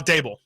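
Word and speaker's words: Daboll: And I think not Vrabel. I always get the name mixed up. It rhymes with that. The head coach for the Giants. Right now, Dable.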